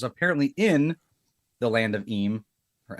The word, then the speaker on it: Eem: So Cler says, "Is is it pronounced em?"